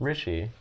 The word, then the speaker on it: Rishi: And I don't think I pronounced the letter I that weirdly. It's Rishi.